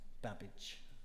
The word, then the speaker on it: Babbage: And you pronounced my name right, Babbage. Babbage. Yeah, Babbage. Same as cabbage, but with a B.